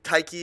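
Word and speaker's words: Tyche: Taiki is how it's actually pronounced. I don't know if they pronounce it the same way in like the Forgotten Realms, but that's the Greek way.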